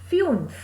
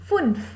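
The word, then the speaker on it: fünf: funez because the you has uml out the pronunciation becomes fumes if you didn't have any umlaut then it would have been funf but in this case you as a umlaut so the pronunciation will become fun okay six is sex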